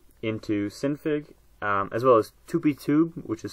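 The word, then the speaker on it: TupiTube: talk about today into synfig as well as 2p tube which is spelled T UPI T ube and it's not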